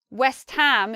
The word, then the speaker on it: West Ham: it's two separate words the ham stands powerfully and stressed by itself next let's look at